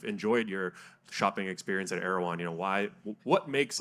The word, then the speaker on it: Erewhon: I'm not Erewhon, right? Is that the official Yes.